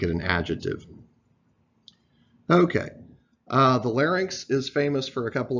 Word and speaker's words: larynx: this Y in X is pronounced like the English word inks okay so a lot of people who grew up learning American you know American English phonics want to pronounce this Larry Nix but that is not